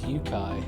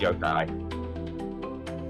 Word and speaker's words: yokai: # What even is Yukai? It's pronounced Yo-kai. Well, I figured it's probably Japanese, so it's actually a long O.